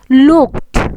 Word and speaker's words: looked: Why I prepare this list is, whenever you find before ed there is a k, then this word is pronounced as looked, not d, but its pronunciation is ends with t sound.